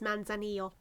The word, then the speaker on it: Manzanillo: You know what, I actually never looked up how to pronounce that. 1 second. Okay, I'm back from Google. It is Manzanillo.